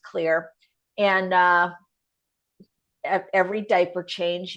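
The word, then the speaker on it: Xlear: a nasal spray called clear um it's spelled with an X so it really throws people off some people may know it to be exer but it's pronounced clear and uh every diaper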